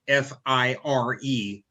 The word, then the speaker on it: Fyre: lawsuit hundreds of fry i'm sorry fire f-i-r-e but it's spelled f-y-r-e fire festival ticket holders